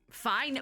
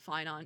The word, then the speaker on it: Phainon: Am I saying it right? Fine. Wait, it's N. I'm still going to pronounce it. Fine on. You got an O in there, buddy.